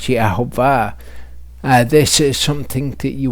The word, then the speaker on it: Yehovah: He wrote that Jews pronounced the name with the vowels of Adonai, but read with its actual vowels, it would be correctly pronounced as Yehovah.